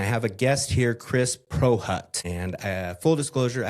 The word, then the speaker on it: Prochut: We get Procut and Proshoot, so thank you, Kevin. It's Prohutt. The C is silent, go figure.